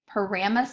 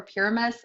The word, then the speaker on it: Pyramus: So as we get started, I mentioned earlier that you could say Pyramus or Pyramus. I always say Pyramus. But I've heard it pronounced both ways, so it's totally up to you.